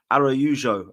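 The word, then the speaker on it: Araújo: And Palace believe that along with Maxence Lacroix and Thomas Araujo, or Araujo, apparently is how you say it, if you're Portuguese.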